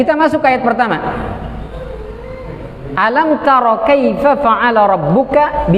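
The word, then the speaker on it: أَلَمْ: Kenapa dibaca alam? Karena tulisannya alam, Ustaz. Ini hamzah dikasih baris a, lam dikasih baris fathah, mim dikasih baris sukun, maka bacanya alam. Di sono alif dikasih bendera, lam dikasih bendera, mim dikasih bendera, jadinya alif, lam, mim.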